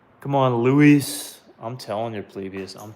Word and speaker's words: Luis: It's l u i s. l u i s. Luis. That's technically how you say it, but Lewis. Luis. Luis.